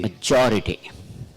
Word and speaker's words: majority: Majority.